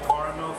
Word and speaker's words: caramel: It's pronounced caramel, sir. Caramel. There is no other acceptable way.